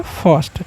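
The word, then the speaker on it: first: फर्स्ट। ठीक है? देखिए आई के बाद अगर आर रहेगा ना तो आई का उच्चारण है क्या कर देना है? अ कर देना है।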